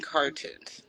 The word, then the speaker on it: car2unes: so, how did you come up with your name, Cartoons?